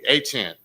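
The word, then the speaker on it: Achane: to myself since he came into the league, Achant.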